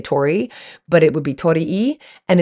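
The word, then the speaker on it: torii: which means bird and the letter I pronounced e uh meaning to be or to reside in the present so Tori e is how would be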